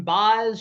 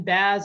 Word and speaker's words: Baz: It could be Shane Baz, Shane Baz. I've heard it pronounced both different ways, but the number one pitching prospect for the Tampa Bay Rays.